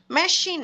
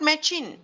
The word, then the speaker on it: machine: இப்போ இங்கே இருக்கிறது மெஷின், நாட் மெச்சின். இப்போ நாங்கள் எங்களோட மைண்டுக்குள்ளே சிஹெச் வந்தால் அது ச சவுண்ட் அப்படின்ற ஒரு மைண்ட் செட்டப்பில் இருந்தோம்னு சொன்னால் எப்படி வாசிப்போம்?